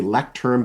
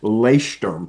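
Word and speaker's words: Leuchtturm: And I'm also a big fan of the ones that's it sounds like it you say lecturerm, but it's really pronounced leerm is how you actually pronounce it.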